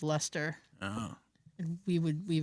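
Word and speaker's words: Leicester: Boston in UK and there's a Worcester and a Gloucester and a Leester and Yeah, Lemonster. Well, yeah, but they they there's there's one they actually pronounce it as Lester.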